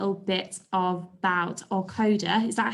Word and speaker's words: Aucoda: little bit about Aucoda. Is that how you say it? Aucoda? Aucoda.